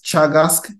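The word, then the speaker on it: Teagasc: the Irish Agriculture and food Development Authority called Chagas uh Chagas is TE a g a s c but we pronounce it as Chagas instead of task and so they have if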